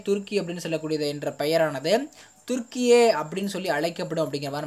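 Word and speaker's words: Türkiye: ஆனால் என்ன பண்ணியிருக்காங்கன்னா தற்பொழுது ஐநா சபையிலுமே துருக்கி அப்படின்னு சொல்லக்கூடியது என்ற பெயரானது துருக்கியே அப்படின்னு சொல்லி அழைக்கப்படும் அப்படிங்கிற மாதிரி நமக்கு சொல்லியிருக்கிறாங்க.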